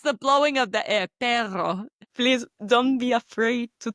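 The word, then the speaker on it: perro: Okay, place the tip of your tongue on the roof of your mouth just behind your upper front teeth. Okay. Then inhale some air and then exhale gently through your throat. Make the tongue vibrate while doing that.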